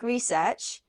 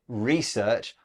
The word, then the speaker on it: research: a note about pronunciation Beth you said research I say research it's just a change in word stress and both are fine now the headline we